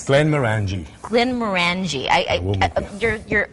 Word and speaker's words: Glenmorangie: happen it sounds so much better that way glenn maranji single malt scotch just show your receipt at